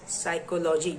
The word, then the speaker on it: psychology: For example, we pronounce psychology the word psychology, as psychology he doesn't. It has a letter p in it at the beginning but we do not pronounce it.